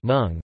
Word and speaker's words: mung: The English word mung, correctly pronounced as mung, originated and used as from Hindi word munga mung, which is derived from the Sanskrit word mudga, mudga.